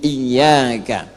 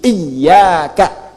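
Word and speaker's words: إياك: Ketujuhnya ketika membaca iyaka na'budu, bacaan iyanya adalah bacaan iyanya bitasdidil yai min iyaka. Bacaan menggunakan tasydid iyaka. Jadi bukan iyaka.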